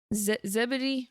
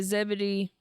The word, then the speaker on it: Zebedee: And he came out and he was talking to Ze Zebedee, I think is how you say John and James' dad's name. Yeah, he was talking to Zebedee and John and he